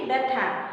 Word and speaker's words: ব্যথা: ব্যথা। কিন্তু আমরা যখন এটাকে উচ্চারণ করি তখন কিভাবে বলি?